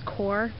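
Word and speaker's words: coir: stuff so you could also use Coar I think that's how it's spelled or sounds it's spelt co IR but it's the it's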